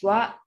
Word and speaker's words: は: Another thing is that she is having difficulties distinguishing the pronunciation of ha, which can be pronounced as wa or ha.